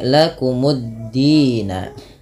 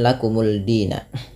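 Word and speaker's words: لَكُمُ الدِّينَ: lagi sehingga dalnya tasdid maka menjadi lakumuddina lakumuddina bukan lakumulina kalau misalkan kita tidak punya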